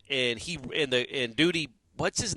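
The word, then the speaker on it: Dudie: It's like the duties of the dudes.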